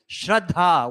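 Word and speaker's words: श्रद्धा: Shraddha. The dha is heavy. Thank you, Panit Siram, for saying it correctly. Shraddha.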